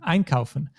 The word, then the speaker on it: einkaufen: like einkaufen, then actually the emphasis, the stress is always on the syllable, on the first syllable, also known as the prefix. So for einkaufen, we will say ein and kaufen, einkaufen. Do you also know what is to sell?